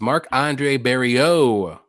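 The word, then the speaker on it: Marc-André Barriault: more Joe Piper versus Mark Andre berio that's how you say it even though it doesn't look like it that's Frenching it up a little bit do you like um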